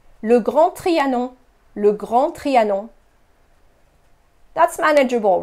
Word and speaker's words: Grand Trianon: you have probably visited Le Grand Trianon. Notice how the French don't pronounce the D at the end of grand, so it's not grand, it's grand. No D. Le Grand Trianon. Le Grand Trianon.